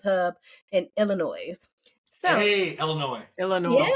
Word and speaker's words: Illinois: So, hey, Illinois. Yeah. Don't pronounce that S. Don't pronounce that S. Illinois.